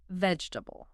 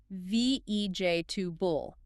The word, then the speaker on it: vegetable: Basically, you crush those middle syllables together. The correct way to say it is VJJ 2 bull, VJ 2 bull 3 syllables, not 4.